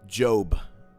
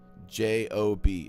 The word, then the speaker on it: Job: Job, J-O-B. It's like job, but it's pronounced Job.